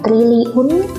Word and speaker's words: triliun: Berikutnya ada kata triliun atau triliun. Penulisannya triliun, walaupun cara bacanya kita sering menyebut dengan triliun ya. Untuk memudahkan triliun itu pengucapannya, tetapi penulisannya triliun.